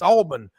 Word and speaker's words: Auburn: up in the Northeast someone teach these people how to say it it's Alburn as coach D would say but that atmosphere out